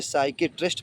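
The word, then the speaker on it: psychiatrist: अगला मीनिंग देखो एस के पहले पी है तो इसे साइकेट्रिस्ट पढ़ेंगे।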